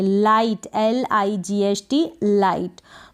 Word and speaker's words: light: Letter आ जाएगा और IGH बीच में आ रहा है, तो यहाँ पर आई पढ़ा आपने, लाइट, LIGHT, लाइट। तो और भी ऐसी काफ़ी सारी स्पेलिंग्स मिल जाएगी, ब्राइट में भी ऐसा है, ठीक है, रोशनी, लाइट का मतलब रोशनी, तो IGH इसको आप पढ़ेंगे, एंड में आपको टी मिलेगा ऐसे स्पेलिंग्स में, तो IGH को आपने पढ़ा आई।